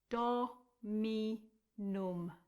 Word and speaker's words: dominum: And then the next word is dominum. Again, like it looks.